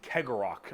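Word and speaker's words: Cegorach: the god named Kegorok, I believe is how you pronounce his name.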